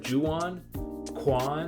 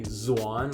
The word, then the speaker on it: Juan: name that everybody's like how do you say that juwan some people call me zuan like with a zed yeah i just say